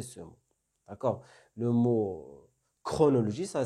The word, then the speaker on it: chronologie: exemple, ils peuvent prononcer le mot chronologie. Attention. Donc, on doit le prononcer. Donc, dans la transcription phonétique, vous allez trouver chronologie comme ça. Chronologie. Donc, faites attention.